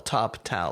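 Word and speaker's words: Toptal: heard of toptw and it's spelled t o p t top tal like I in top talent uh I had a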